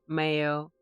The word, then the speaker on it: Mayo: The name is from the Irish Mayo pronunciation Mayo much like the condiment is a mountain on the west coast of Akil Island that descends into the sea.